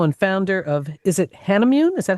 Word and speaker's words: Hanimune: We're talking with Meenal LeLe, the CEO and founder of, is it Hanimune? Is that how you say it? Hanimune Therapeutics.